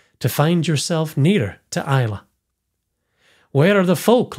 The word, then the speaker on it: Islay: this episode that the island's name is correctly pronounced Islay. It's spelled Islay, so it looks like Islay, but it's correctly pronounced Islay, which is pretty cool because my middle daughter's